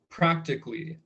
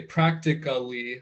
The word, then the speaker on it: practically: examples, like, the word practically. As a native speaker, I don't say, even though it's spelled ALLY, I don't say practically, I say practically. Exactly. You shorten it, it's 3 Yes, syllables.